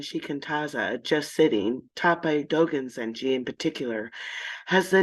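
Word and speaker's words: Dōgen: And Dogen is it's always a hard G with Dogen Zenji. Yeah. Okay, Dogen.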